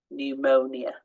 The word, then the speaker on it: pneumonia: silent n Autumn condemn silent P to start a word psychology pneumonia silent s so uh often